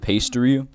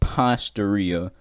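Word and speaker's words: Pastaria: chat was like buddy you're pronouncing it wrong it's pasteuria so despite the fact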